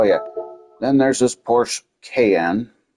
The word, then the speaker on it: Cayenne: Then there's this Porsche Cayenne. I know it's supposed to be pronunciated Cayenne, but I'm saying can.